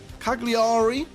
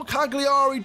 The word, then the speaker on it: Cagliari: sub but we'll watch the highlight play out Cagliari I hope that's how you say it because